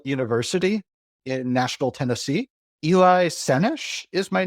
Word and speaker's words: Sennesh: Eli Sennesh is my name. So it is emphasis on the first syllable in my last name.